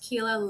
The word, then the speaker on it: Keila: Keila Roesner, pronounced Keila like tequila, and I have a midlife women's health focused practice.